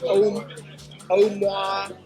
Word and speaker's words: Omoa: across this town like Omoa, O-M-O-A, however you pronounce that. Like Omaha. Omaha, yeah. Yeah. And Not Omaha, but Oma. yeah, Honduras.